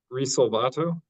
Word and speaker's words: Rato: hear you great Mr is it pronounced rato that's it you got it can you see and